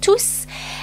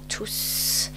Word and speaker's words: tous: Here, this is the adverb tous, and you have to pronounce the final S.